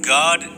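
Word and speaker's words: Gad: g a d God the same way it's pronounced in Enoch with that little vowel point above the a now look at this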